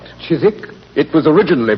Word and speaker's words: Chiswick: The Chisik branch to be exact. Chisik. It was originally pronounced Chiswick Watson and it's still so spelled.